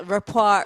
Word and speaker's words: rapport: the same thing like I would read r-a-p-p-o-r-t rapper I'd be like they have a good rapper and then I'd hear a report and I was like oh it's the French version of the word r-a-p-r-e or something yeah